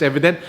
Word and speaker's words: EVDNT: ultimate waffle or it well it's spelled evdnt i'm just spelling it as evident but apparently this one